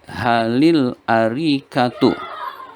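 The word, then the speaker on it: هل الأريكة: Hal al arikatu fi gurfatil julusi. Cara membacanya menjadi halil arikatu.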